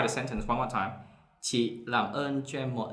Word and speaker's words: chị: Chị. Okay, it's like stop at the end. So not chị. It's stop. The sound, it bounce back.